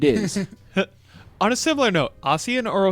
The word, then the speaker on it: Ossian: On a similar note, Ossian or Osian?